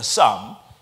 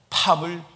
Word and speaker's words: psalm: 쌈. PSALM. 그래서 그냥 P는 발음 안 해서 쌈이라고 읽어요. 그런데 바이든이 나는 팜을 즐겁게 읽습니다.